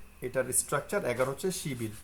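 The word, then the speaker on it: 십이: এই হচ্ছে শিবিল। আশা করি আপনারা বুঝতে পারছেন, এটা হচ্ছে শিবিল। একইভাবে যদি 12 দিই, শিবি, উচ্চারণ শিবি। 10 2, দেখছেন? 10 2 10 আর 2, 10 2 12, শিবি।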